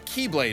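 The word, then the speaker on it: χ-blade: explosion from when the keyblade was destroyed yeah it means the x blade it's just pronounced like keyblade even though it's just one keyblade ah the series is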